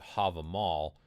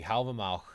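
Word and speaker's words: Hávamál: here people pronounce it have a mall i pronounce it it's kind of like a k sound at the end there but more in the back of the throat that's the way i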